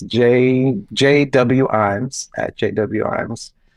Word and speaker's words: Ijames: I am on I'm on Instagram, and I think it's JW Ijames at JW Ijames. Which looks like it's spelled James L. James, but you get that a lot.